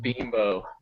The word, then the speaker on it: Bimbo: like the union kids it's not bamboo oh it's a product okay not actual bimbos right no oh i think it's binbo that's how you get around oh bimbo i think that that that's pronounced binbo all these all this